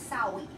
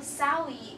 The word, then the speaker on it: Samhain: And so what they did is they started something called it looks like it's spelled Samhain, but it's Samhain in the Celtic language.